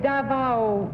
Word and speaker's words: Davao: Number two, how far is Davao, I don't know how to pronounce it. Is it Davao City? Yes, Davao.